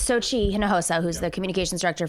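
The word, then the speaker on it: Xochitl: It's I'm not sure how to pronounce her name. Communications director for DNC. Okay. It's Sochi. I'm sorry. It's Sochi Hinojosa, who's the communications director for Tom Perez.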